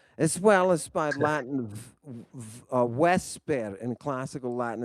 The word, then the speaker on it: vesper: well as by Latin vesper. In classical Latin, it's vesper. That's why you pronounce the U or the V in Latin as a W. Vesper. It's because that's how the digamma is pronounced.